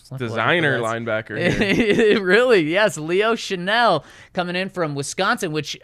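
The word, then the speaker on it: Chenal: It's Chanel. It yeah, is. Yeah, yeah. S, okay. In, is this the pronunciation guy?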